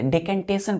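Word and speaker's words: decantation: आई ओ एन डी इसको डी नहीं पढ़ते डेकंटेशन पढ़ते क्या पढ़ते प्रंस कैसे करेंगे लिखेंगे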